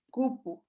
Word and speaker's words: cupu: Pero lleva el acento en la primera sílaba.